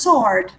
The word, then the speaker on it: sword: There was There a was sword. a sword. Sword. Sword. You don't pronounce the W.